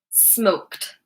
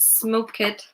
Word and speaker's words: smoked: The last sound is a kuh, kuh, kuh. Which is an unvoiced consonant. Meaning that the ending sounds like tuh, tuh, tuh. Smoked, smoked. Watch again. Just one syllable. So not smoke-ed, smoked, smoked.